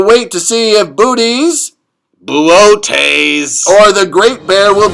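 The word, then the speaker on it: Boötes: Say, should we check in again with the Great Bear and Booties? It's pronounced Buotes.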